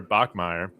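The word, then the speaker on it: Bachmeier: And I think their their quarterback, Bear Bachmire, I butchered it at the beginning of uh of this interview that we'll play here in a bit. I called him Buck Bachm. I was thinking about Buck Buchanan.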